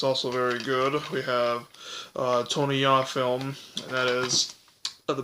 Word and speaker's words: Tony Jaa: with Tony Jaa, and like I might say Tony Jaa, but it's Tony Jaa, is how you pronounce it.